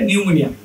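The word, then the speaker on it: pneumonia: হ্যাঁ, লিখতে হয় পিনিউমোনিয়া, কিন্তু আসলে হচ্ছে নিউমোনিয়া। ওই যে সুনামির মতো।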